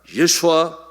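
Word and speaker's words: ישוע: 같은 오늘 가지고 있어요 요 수아를 이스라엘 사람들이 발음할 때 어떻게 발음하는 야 예수와 예수와 이렇게 발음합니다 일쑤 않은 우리가 성격에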